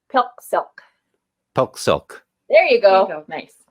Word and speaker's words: PIQSIQ: of your group so if you think about rhyming it with milk silk mm-hmm so think of that when you say pill silk silk there you go